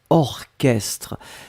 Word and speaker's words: orchestre: La première chose c'est orchestre. Souvenez-vous, C'est bizarre, mais il existe certains mots qu'on écrit ch, mais qu'on prononce que.